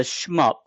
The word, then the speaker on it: SHMUP: So, it's it's a schmup. A shoot them up is what it is. The I think the acronym is properly pronounced. Schmup.